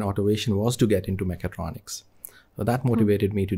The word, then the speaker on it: mechatronics: They could not even pronounce mechatronics well. Some of them said mega electronics. So, it's kind of a mega electronics or something like that. I said, no, it's mechatronics.